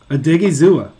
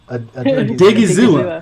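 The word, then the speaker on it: Odighizuwa: Odigizua. Odigizua.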